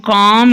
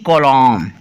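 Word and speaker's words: calm: ल साइलेंट होते हैं सी ए ल एम कॉम इसको पन है ना की कोल्लम ठीक है जी बी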